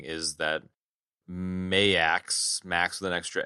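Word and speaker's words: M*A*S*H: They're like sort of loosely aligned with M.A.S.H. M.A.S.H. I love that name, dude. Not Max. It's Max with an extra A. I pronounce it M.A.S.H. I know.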